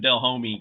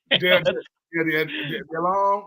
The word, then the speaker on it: Delhomme: they said, look, Jake Delhomme said, stop calling my phone, bro. I'm not coming over there. No. Hell no. I used to call him Del Homie because I couldn't. Delhomme.